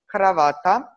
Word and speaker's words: kravata: In Croatian, it's pronounced kravata, and not sure if